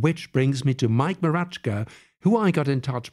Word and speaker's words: Mroczka: Uh, last name is Marachka. It's Polish and if you never pronounce that correctly, that's fine.